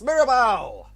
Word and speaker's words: Mirabal: us here capers give it up for Maribel did I pronounce that name correctly yes actually surprisingly I